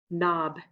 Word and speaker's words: knob: Knob. Which letter is silent?